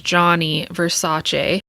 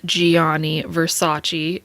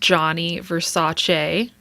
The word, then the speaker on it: Gianni Versace: pronounce his name as Gianni Versace as I so lovingly did my entire life it's actually pronounced Gianni Versace in Italian so we thought we